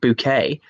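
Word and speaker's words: Bucket: the keeping up appearances mrs. bouquet pronounced mrs. book it pronounced bouquet as is one of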